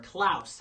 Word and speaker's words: Klaus: And last night I watched the new Netflix animated movie Klaus, or Klaus, actually, that's how it's pronounced, about the holiday season and things.